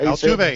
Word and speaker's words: Altuve: Second base, I've got Jose Altuve. Is that how you say it? Altuve, yes, sir.